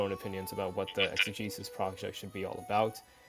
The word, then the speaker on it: exegesis: these individuals represented different schools of I don't pronounce this word exegesis and it became difficult yeah exegesis yeah you're right it became difficult for them